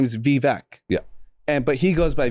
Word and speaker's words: Vivek: other people call him Vivek. Yeah. So you can call either way. Yeah. So I'm gonna play that. Well, Ramaswamy says Vivek like cake, so yeah. And my best friend, his name is Vivek.